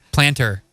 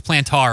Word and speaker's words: plantar: Plasher? Planter. Planter? Actually, it's plantar, I but am we'll not let you slide with today.